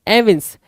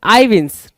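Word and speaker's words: evince: देखो भाई, एविंस करना, एविंस या फिर आईविंस, ठीक है ना, आईविंस। कुछ लोग एविंस पढ़ेंगे, कुछ लोग आईविंस पढ़ेंगे, कोई इशू नहीं है, यहाँ पे पढ़ के बता भी रहा है, ठीक है, प्रोनाउंसिएशन यहाँ पे देने की कोशिश भी कर रहा है। सो एविंस भी ठीक है, आईविंस भी ठीक है।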